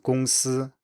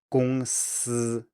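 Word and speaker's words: 公司: If you want to pronounce a word like 公司, company, which has this SI, S at the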